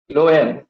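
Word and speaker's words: phloem: चीज देख रहे हैं फलो एम हम बोल तो रहे हैं इसका स्पेलिंग एक्चुअली होता है पी एच एल ओई एम देखिए हम लोग बोल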